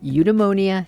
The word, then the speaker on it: Eudemonia: And who better to start with than the founder of Udeonia himself, Sean Hess.